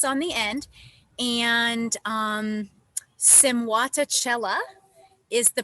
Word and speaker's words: Simwatachela: there's no s on the end and um simuata chella is the pronunciation of my project and i am technically